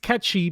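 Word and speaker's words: Cait Sith: ever jail or why Kate Sith is actually pronounced catchy because it's gelic anyways these shadow tree fragments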